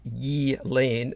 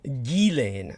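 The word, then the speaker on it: Ghislaine: orolo was saying that her name is pronounced with a silent G as in ye Lane now I will admit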